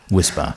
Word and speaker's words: WSPR: Now, WSPR, pronounced Whisper, stands for Weak Signal Propagation Reporter.